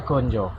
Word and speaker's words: ganja: Gonjo tulisannya pakai A jadi ganja ya, tapi bacanya gonjo.